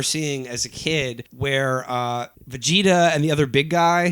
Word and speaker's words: Vegeta: goodness two episodes ago I referred to the great principal Vegeta as Vega de and believe you me